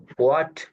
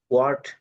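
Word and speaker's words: what: এখানে একটা জিনিস সবাই খেয়াল করব, এই ওয়ার্ডটা হলো ওয়াট, এই মূল শব্দের প্রনাউন্সিয়েশন হলো ওয়াট। ওয়াট। ওয়াট। হোয়াট হোয়াট এটা ওয়াট না, এটা হওয়ার উচ্চারণ আসবে না, অর্থাৎ এইচ এর উচ্চারণটা একদম স্পষ্টলি হবে না।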